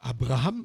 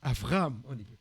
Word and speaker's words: Avraham: ve par par exemple on dit pas Abraham on dit Avraham allez là le serviteur